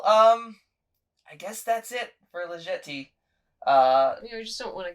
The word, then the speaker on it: Jetée: Jetée. I just let you say it. However you're gonna say it. I used to call it legit, but that is not how it's pronounced.